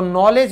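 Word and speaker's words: knowledge: अगर हम कहें ज्ञान तो नॉलेज में भी के साइलेंट इसीलिए होता है।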